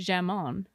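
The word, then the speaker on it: jamón: Actually, I think it might be jamon. Oh my god, look at you cuz that you don't pronounce the J.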